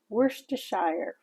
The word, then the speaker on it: Worcestershire: Yes, it's pronounced Worcestershire.